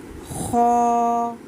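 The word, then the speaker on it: خ: हलक का जो स्टार्टिंग एरिया होता है वहाँ से प्रोनाउंस होता है। जैसे हम गरारे करते हैं, हमारा गला वाइब्रेट करता है एज इट इज़, वैसे ही इसको प्रोनाउंस करते हुए भी आपका गला वाइब्रेट होना चाहिए।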